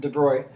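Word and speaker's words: de Broglie: by the name of de bruy that's how you supposedly pronounce that de bruy uh he postulated that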